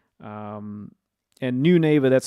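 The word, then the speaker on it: Neunaber: remind you so this pedal is called the new neighbor Immerse Reverberator. So new neighbor, howdy neighbor, I'm your new neighbor. Um Immerse Reverberator, the Mach 2. All right. Um, and new neighbor, that's spelled as ne u n a b e r.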